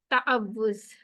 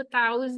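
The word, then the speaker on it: تعوذ: तो आज हमने क्या कवर करना है, ताअव्वुज़, ठीक है। सबसे पहले तो हमने इसकी प्रोनाउंसिएशन को ठीक करना है। हम लोगों ने इसको ताउज़ नहीं कहना, ठीक है। ये हमारा क्या है, ताअव्वुज़, ठीक है।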